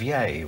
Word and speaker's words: Yea: And hello to all of our friends in country Victoria, in the town of Yea, which is spelled Y-E-A.